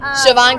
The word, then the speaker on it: Siobhan: Siobhan Keys. It's funny because her name is spelled S-I-O-B-A-H-N or B-H-A-N, but it's Siobhan with a V.